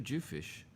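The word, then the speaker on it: dhufish: But um a week ago, I went out and we caught two Jew fish and a snapper.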